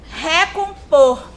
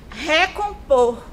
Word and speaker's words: recompor: Recompor. Recompor. Percebam que eu utilizo mais força para falar o por. O por é a sílaba tônica dessa palavra, certo?